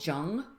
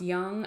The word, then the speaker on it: Jung: actually called him carl jung before because the name you're searching on google is going to be um j-u-n-g it's actually pronounced young i have a couple